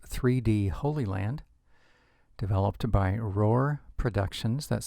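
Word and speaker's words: Rohr: We'll be using a software known as 3D Holy Land, developed by Roar Productions. That's spelled R-O-H-R, Roar Productions.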